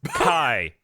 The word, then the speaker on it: X: It's X, pronounced Kai. written is an X with the pronunciation of chi or ki.